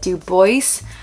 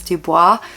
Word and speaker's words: Du Bois: Du Bois. My heart really wants to pronounce that as Dubois, but apparently it is Du Bois, so okay.